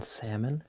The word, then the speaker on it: salmon: Also, Shinobi said, do you pronounce the L in salmon? And if you do, salmon? Where can I missile strike you? I do not. Salmon.